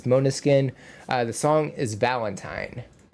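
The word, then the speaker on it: Måneskin: It's pronounced uh Monuskin. Hopefully I got that right. Not main skin. It's Monuskin.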